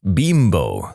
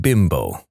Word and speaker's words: Bimbo: Except it never really took off in America because we don't pronounce Bimbo like the Mexican manufacturer does. They pronounce it Bimbo, not Bimbo.